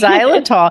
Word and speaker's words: xylitol: it on everything because zyol Monica can you just spell it out so people would know because it kind of it spells out a little different than it sounds absolutely it's x y